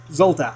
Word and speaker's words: Zolta: You are also currently working on Thong Girl versus Zolta. That's how that's pronounced, right? Exactly. Okay, Zolta.